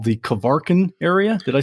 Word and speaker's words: Kvarken: Yeah, the stretch of water that connects Sweden and Finland is called Kvarken. Okay, I could never say it like that, but as the American, I'll just say Kvarken, right?